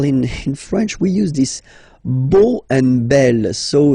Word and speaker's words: beau: So remember this E, A, U combination of vowels only give you the sound O, beau, okay, le beau-père.